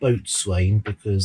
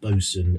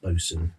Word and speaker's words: boatswain: video i called him boatswain because that's how it's spelled phonetically and i'm an idiot because it's pronounced bosun and i should know